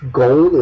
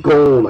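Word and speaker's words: Ghosn: And then his name was Ghon. It's spelled G-H-O-S-N. So literally, that, compared to the Dark Templar fella here, it's like a one-letter difference. But it's pronounced Ghon, I think, for some reason.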